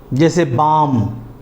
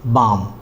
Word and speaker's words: balm: जब किसी अंग्रेज़ी वर्ड के लास्ट में ALM एक साथ आते हैं तो उसमें एल साइलेंट होगा। मैं फिर से कह रहा हूँ मेरे दोस्तों, my friends, I एम repeating कि जब किसी वर्ड के लास्ट में ALM एक साथ आते हैं तो उसमें एल साइलेंट होगा। जैसे बाम, BALM, बाम।